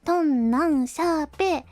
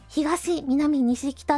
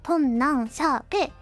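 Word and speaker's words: 東南西北: 入れん通じますねとん何シャーペイひがしみなみ西北って呼びがちなんですけど正確には本何シャーペイですまあこれは別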